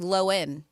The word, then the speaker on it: Lohan: It's not, she said, commonly pronounced Lohan, but it's actually Lohan.